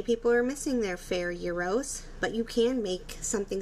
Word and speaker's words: gyro: if you call them gyros that's okay but that is incorrect the greek word euro or pronounced as hero is spelled g r